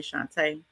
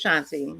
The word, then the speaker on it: Shanti: But girl, people used to call me Shante, Sheniti or Shanti, and I would just let it slide. But no, no, baby. My name is Shanti.